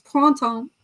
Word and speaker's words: printemps: You're not required to pronounce it, just to spell it. But it is printemps.